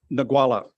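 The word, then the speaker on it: Ngualla: And I'm going to let you pronounce the name of the site. Go on, just once for me. Nagwala.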